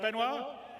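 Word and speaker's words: Benoît: to bring Ci's CTO benoir bezer did I say it right benoir yeah okay good I'm always bad with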